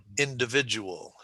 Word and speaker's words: individual: Okay, so the third syllable gets the emphasis. Individual. Okay, and then there you have the ol sound at the end of the word.